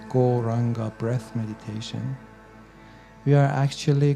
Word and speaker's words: Gauranga: So without further ado, let's add the wonderful Goranga mantra to our practice, turning this into a proper meditation technique. Goranga has 4 syllables. Go, ra, anga.